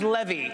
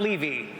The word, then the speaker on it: Levy: But if it goes well tonight, my name is pronounced Levy, not Levy.